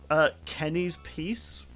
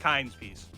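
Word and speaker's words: Kyne's Peace: I'm reading this right, Kenny's Peace. I'm not sure if that is accurate. I might have just read that wrong. I'm going to stop you right there. It is pronounced Kind's Peace.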